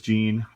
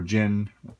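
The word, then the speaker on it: Jyn: says on there but here is Jean uh or Jin depending on how you say it so this is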